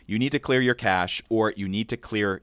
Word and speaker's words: cache: to be talking about how to clear the cache in firefox for windows or mac os typically